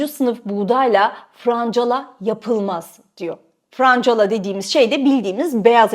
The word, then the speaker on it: francala: buğdayla francala yapılmaz diyor francala dediğimiz şey de bildiğimiz beyaz ekmek Frank kala diye okunur Ama halk arasında hepimiz malum franc diyoruz ve o da öyle diyormuş Türkiye'de Aslında katma değerli